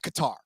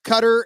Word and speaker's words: Qatar: So I'm just rolling with Qatar because it's cutter, it's gerter, it's like there's so many different ways for I think that's the one I've heard the most.